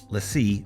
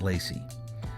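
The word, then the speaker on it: LaCie: So everything we ever import and work on with Final Cut will be on this LEI drive, pronounced LEI, not Lacy.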